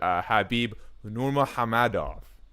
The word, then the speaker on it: Khabib Nurmagomedov: The man who everyone but Dana White is convinced is retired, Khabib Nurmagomedov. Don't at me. That's how you pronounce it.